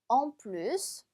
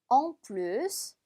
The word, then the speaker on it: en plus: en plus, en plus. 그렇죠? 얘는 뒤에 s까지 발음해 주셔야 돼요. 예외적으로.